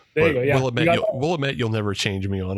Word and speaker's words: Willamette: It's like right on the banks of the Willamette, and you could potentially the Willamette. But I love that you said Willamette.